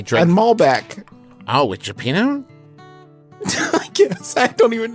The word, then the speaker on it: cioppino: It's not Gipino. Cioppino.